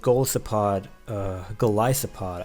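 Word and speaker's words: Golisopod: Anyhow, looking at my opponent's team, I feel like, we learned from a previous episode, Goliathopod, that's how you pronounce it, because it's from Goliath.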